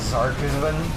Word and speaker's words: Zark 7: That's pronounced Zarkisvan.